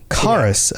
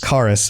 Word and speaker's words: Chaurus: Kaurus? Okay, so it's not a c h, it's a c sound. No, I refuse. Kaurus, because it looks like Chaurus, right?